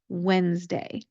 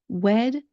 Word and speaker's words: Wednesday: We have actually changed the pronunciation of this word over time because if you look at the spelling, there is a D there. That D is not pronounced.